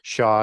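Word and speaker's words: Xia: is x i it's the short form of Shaw as it's pronounced the shaw Dynasty and he's from the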